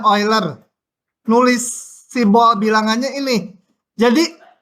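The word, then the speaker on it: Euler: kuliah kita sampai memunculkan bilangan oiler bacanya oiler nulis simbol bilangannya ini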